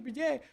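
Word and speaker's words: Bresee: I feel targeted and judged because I keep calling the man Brian Breezy, and everybody's like, "Why do you keep mispronouncing his name? His name is Brzee."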